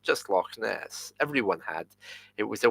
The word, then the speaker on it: Loch Ness: Well, it's not actually Loch Ness. It's pronounced like this: Loch Ness. It's two separate words. Loch Ness.